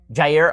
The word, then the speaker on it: Jair: I'm not sure how you pronounce. Is it Jair? Jair.